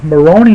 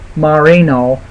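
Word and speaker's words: Moreno: I mean, Maroney looked, I said it wrong. Marino looked pretty good in the first half, but then, obviously he fell behind the second half.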